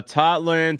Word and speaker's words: Totland: Encouraging long ball to Totland.